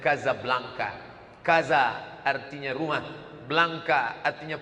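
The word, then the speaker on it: Casablanca: dua ibukota kerajaan Maroko tulisannya jasa belanja cara membacanya Gaza Blanca Kaza artinya rumah Blanca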